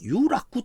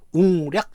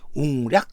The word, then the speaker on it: 웅략: 보면은 그 향가 시대 향가 작자들은 한자를 우리말 발음 즉 웅략 천왕 이런 식으로 읽고 있다는 것입니다 유라 그 천왕은 구